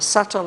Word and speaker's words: subtle: ethereal course in the subtle atmosphere um suresh you will notice this word subtle we spell it with a b s-u-b-t-l-e but the b is silent we don't pronounce it